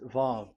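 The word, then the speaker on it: וָו: Vav. So it's V as in Vogue. So it's really V. How to read Vogue? So the word, the shape Vav is really pronounced V, like Vogue.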